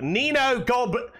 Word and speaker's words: Nino Goblino: In Behemoth's last video, he was like, Nino Goblino. And there you have it. That's how it's pronounced.